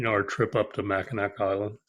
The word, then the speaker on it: Mackinac: our trip up to mackinac island mackinac have to pronounce it like i'm a michigander but yeah i know